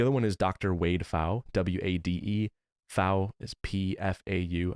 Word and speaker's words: Pfau: Wade Pfau, W-A-D-E. Pfau is P-F-A-U. I think the P is silent.